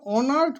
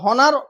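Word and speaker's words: honoured: ওয়াজ অনার্ড, ওনাকে অনার্ড করা হয়েছে। ওয়াজ অনার্ড। দেখো হনার তোমরা অনেকে বলো, বাট উচ্চারণ হবে অনার্ড।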